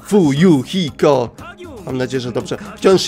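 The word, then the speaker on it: Fuyuhiko: moje nazwisko to kuzuryu moje imię wymawia się chuju hiko mam nadzieję że dobrze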